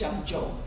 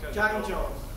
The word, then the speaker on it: Zhengzhou: Pronounce your university. It's Zhengzhou. Zhengzhou.